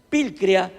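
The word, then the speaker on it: πικρία: proviene de una raíz griega que se pronuncia vil crea así tal como se lo estoy pronunciando pil crea que significa punzante perforar como una punta atravesar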